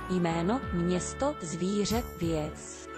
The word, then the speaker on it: Jméno, město, zvíře, věc: Und so wird es ausgesprochen. Jméno, město, zvíře, věc.